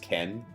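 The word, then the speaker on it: 見: So in this case, it's not pronounced mi; it's pronounced ken.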